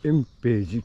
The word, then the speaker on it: 塩尾寺: 常に汗だ、はい、エンページ塩のお寺と書いてエンページと言います。